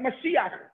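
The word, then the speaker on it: משיח: Mashiach. Mashiach is the same thing. Mashiach, I have a chet at the end of a word. I say the vowel before I say the word.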